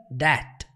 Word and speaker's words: debt: É interessante que essa palavra aqui, ela é pronunciada debt. Com um Tzinho bem sutil ali.